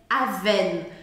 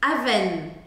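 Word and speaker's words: Avène: gente percebe uma coisa quando uma palavra termina com e sem acento em geral este e não será pronunciado pega o seu vermelhinho e taca vermelhinho nele aven aven o último som que eu devo ouvir é o som do n aven aven e outro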